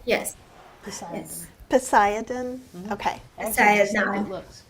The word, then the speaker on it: Poseidon: Because I don't want to try and pronounce. Apple said, is it Poseidon, yes. okay? That is correct. Yes. Poseidon.